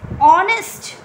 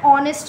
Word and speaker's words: honest: If it is honest, you can see that H is silent over here. So we will say an honest man.